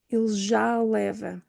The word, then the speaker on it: ele já leva: So I have a double A there in the middle. And what happens is, so the first person didn't hear the second A. Why? Because there's no pause in between. It's exactly the same letter. One is open, one is closed. But what we do, we marry the two and just make it both a long open A.